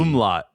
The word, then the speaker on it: umlaut: It's called an umlaut. Umlaut. There we go. Yeah, not an omelet.